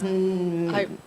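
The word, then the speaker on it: Mnemosyne: of the Titans it's M-N-E-S Mensemone. Mensemone. Mensemone. But you don't say the M. Now it's Mensemone.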